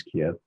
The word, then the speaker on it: Kyiv: things, and then went back to Kyiv, which most people pronounce Kiev, and had some time.